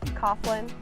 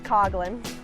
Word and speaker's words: Coughlin: you know is it Coughlin but it's Coughlin the H is silent I'm a proud wahoo